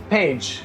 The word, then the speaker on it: Pécs: So, to me, it looks like Pécs. Yeah, p e c s. Yeah. But it's pronounced Pécs. Pécs.